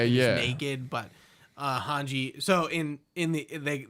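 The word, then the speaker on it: Hange: yeah naked but uh hanji so in in the they they say her name is hanji not hajj okay in the in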